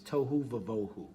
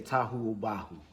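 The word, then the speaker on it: תֹהוּ וָבֹהוּ: you'll hear the orthodox, the standard form for pronouncing it is tohu vavohu.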